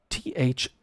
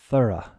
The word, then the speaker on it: thorough: bring my mouse over here and that is t-h-o-r-o-u-g-h a word that describes something that is complete and can be challenging to pronounce because of the th and O sounds the pronunciation here is thorough thorough I'm trying to think of something that